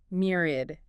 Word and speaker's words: myriad: Myriad. M y r a d. M y r i. Three syllables. Stress on the first.